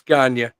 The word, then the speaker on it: Gagne: to your house to teach you how to pronounce vern and gagne we we know it's ganya it's just fun it's more fun to say